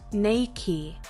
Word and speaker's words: Nike: with the tick logo should be pronounced Nike according to the company's chairman the company was named after the ancient Greek goddess of Victory nakey whose name was also pronounced that way number 31 Harlan Sanders